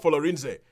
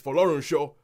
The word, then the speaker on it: Folorunsho: I mean, even if you just had a scene where the dad turned around and go, it's not Folorinze, it's Folorunsho.